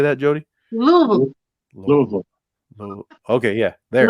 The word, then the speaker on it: Louisville: in Louisville. Uh, Louisville. How we say that, Jody? Louisville, Louisville.